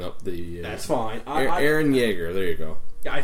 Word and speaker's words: Yeager: I don't know how to spell the booze, so I just know it's pronounced the same.